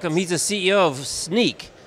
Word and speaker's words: Snyk: Welcome, he's the CEO of Snyk. Not spelled like sneak, you'll see it on the lower third.